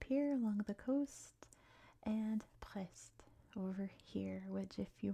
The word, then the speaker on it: Brest: So we'll stick with the French pronunciation with that weird French R, Brest. Sounds like you're choking a little bit on the R sound.